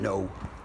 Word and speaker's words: know: I know that no is spelt with a K. No as in knowing. Like as in knowing the narcissist or knowing the empath or knowing. Spelt with a K. Soft K. Soft K. Pronounced N, like an N.